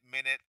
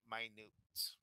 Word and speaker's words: minute: just wrote there I'm minute means very small so we're not pronouncing it minute we're pronouncing it minute okay do you see